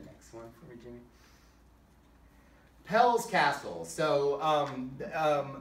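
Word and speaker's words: Peleș: one for me jimmy pell's castle so um um or they say pale i i say it the american way um you know dad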